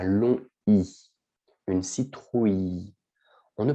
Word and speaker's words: citrouille: d'accord dont bien sûr on utilise beaucoup de citrouilles pour halloween mais attention aussi avec la prononciation ici on prononce à l'eau ni une citrouille on ne prononce pas le elle d'accord on